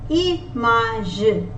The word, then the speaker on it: image: Image. Image. Remember, G is pronounced as J when it is followed by E, I or Y. I is pronounced as E. Image. Image means picture. Igloo.